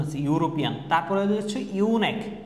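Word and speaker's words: eunuch: তারপরে হচ্ছে ইউনেক, এই যে ইউ উচ্চারণ আছে ইউনেক মানে কি হিজড়া, যারা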